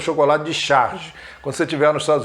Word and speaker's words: Charge: Não é charge, é charge, ok? Charge, a pronúncia.